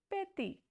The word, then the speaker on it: petit: The pronunciation will be petty. It is not petty, it is petty because T has very soft sound in French language.